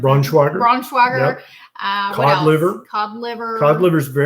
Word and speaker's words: Braunschweiger: I mean, how do you pronounce Braunschweiger? Braunschweiger.